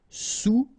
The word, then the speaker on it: sous: All right, and remember, sous, okay, final S not pronounced, so S-O-U, sous, sous-marin.